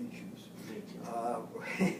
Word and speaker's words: Natchez: So being the Natchez, we pronounce it Natchez, we were sent up there.